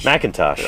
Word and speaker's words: McIntosh: How'd you pronounce McIntosh. it? McIntosh.